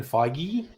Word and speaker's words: Feige: Star Wars movie too Kevin feige Kevin feige um yes that's how you pronounce it's feige okay there you go